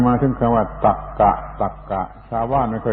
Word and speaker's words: ตรรกะ: มา ถึง คำ ว่า ตรรกะ ตรรกะ ชาว บ้าน ไม่ ค่อย รู้ เรื่อง แต่ มัน อยู่ ใน ลำดับ อักษร ก็ ต้อง เอา มา พูด ตรรกะ ตรร ก อ่าน ว่า ตรรกะ แปล ว่า ความ คิด